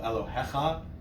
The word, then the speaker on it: Elohecha: Any word that's conjugated for possessiveness, for example, Elohecha, hecha, second to last syllable.